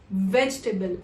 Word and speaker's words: vegetable: So if you noticed, I pronounced it as vegetable and not vegetable.